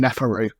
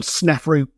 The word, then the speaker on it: Sneferu: to be Sneferu, but they've just pronounced his name wrong and called him Neferu. Though, I guess by the same token, pretty much every aspect outside of this doesn't resemble Sneferu in the slightest, so